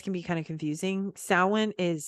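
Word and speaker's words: Samhain: Saints Day came before Salin which by the way this can be kind of confusing salwan is spelled like Sam hame s-a-m-h-a-i-n but it's pronounced salmon this is how Celtic language works it really we don't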